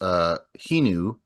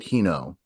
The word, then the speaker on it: Hinu: And like even my own sister, her name is Hinu, but I pronounce it Hino.